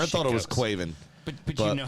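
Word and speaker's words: Caoimhín: Quaven. Quaven. That's how you say it in Irish.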